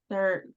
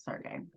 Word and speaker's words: Sergey: I said Sergi. That's what came up on my screen. Now that you said it, I remember him pronouncing his name. It was Sergey.